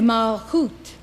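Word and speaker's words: מלכות: And Malchut, kingdom. Malchut is also known as Shekinah, or the presence of God. In Kabbalah, Shekinah is the feminine aspect of God. Malchut, Shekinah, receives and absorbs the qualities of the other Sphirot.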